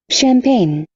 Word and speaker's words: champagne: champagne, Champagne. E final também não pronuncia. Champagne. Termina em N.